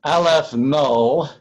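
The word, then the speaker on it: aleph-null: of the alphabet and a little zero subscript pronounced the old-fashioned way no so alef no that's going to stand for the cardinality oh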